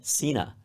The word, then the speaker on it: cena: That's cena. Cena in Italian. It's a CH sound because your instinct would be cena.